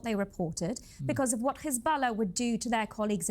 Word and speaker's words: Hezbollah: careful about what they reported because of what Hezbollah would do to their colleagues in Beirut. The fact that international Hezbala, you mean Hezbollah?